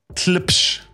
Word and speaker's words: Tlepsh: For those that don't know, Tarek Mirza is he's the one man band, and I can't pronounce the name of his band. It's Tlipsh.